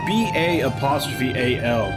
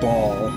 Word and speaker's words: Ba'al: The worst part is that they're not even trying to pronounce it differently or anything. Like, it's B-A''A'-L. They could be pronouncing it Baal. But they're not. They're just straight up pronouncing it Ball.